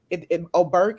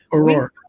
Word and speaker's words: O'Rourke: We have to stand up like O'Burke, is that how you say his name? O'Rourke.